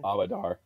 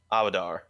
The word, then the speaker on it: Abadar: Abadar. Abadar.